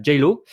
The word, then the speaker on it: Geilo: en Norvège, donc à Geilo. De base, ça devait être à Sushen, Gaëlo. mais alors comment on dit, Aurélie? Gaëlo. Geilo. Ok, Geilo. Ouais. Donc voilà pour la bonne prononciation.